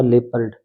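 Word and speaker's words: leopard: option बिल्कुल right होगा लेपर्ड इसका उच्चारण ध्यान रखना लेपर्ड होता है स्लिंग य राइट होगी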